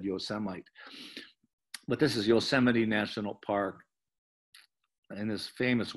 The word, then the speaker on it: Yosemite: And if you saw the president lately, our president, he pronounced it Yosemite. So he got a lot of grief about that. So actually people started making shirts that said Yosemite. But this is Yosemite National Park.